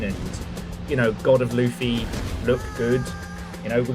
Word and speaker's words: Luffy: The problem is we're all going to be calling it God of War Luffy. It's pronounced it's Luff. It's Luffy. Okay.